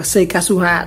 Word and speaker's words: Seikatsuha: Gọi là Seikasuha, đọc là Seikasuha đó.